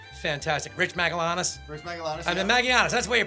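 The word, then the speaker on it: Magallanes: for the aforementioned fantastic rich maganus rich maganus maganus that's the way you pronounce it rich uh worked on every season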